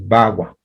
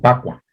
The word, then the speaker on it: bagua: mucho el chino, pero que es un sonido que está entre la B y la P, el bagua, ¿sí? A veces inclusive se pronuncia como pacua, ¿sí?